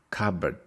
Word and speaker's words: cupboard: kitchen we say cupboards cupboard the stress is on the first one cupboard cupboard is a